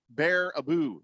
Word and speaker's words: Baraboo: oh yeah thunder snow says Jeffrey actually it's pronounced bear Abu Wisconsin which is also the location of the circus World Museum you know hmm Baraboo bear a boo am I really supposed to know that Circus